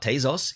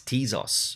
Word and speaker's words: Tezos: first thing to note i've been saying it wrong it's not tazos it's tease now that's weird that'd be too too easy if it was t-zos um you use your